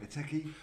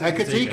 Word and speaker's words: Ekitike: Eteke. Oh, Ekitike.